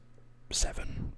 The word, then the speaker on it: Severn: So it's like Severn, but it's Seven. You just sort of pronounce it Seven.